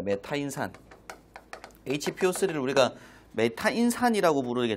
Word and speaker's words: 메타인산: 1차필기 안전 관리도 공부하죠 요걸 우리가 뭐라고 읽고야 메타인 산이라고 읽습니다 메타인산 hpo3 우리가 메타인 산이라고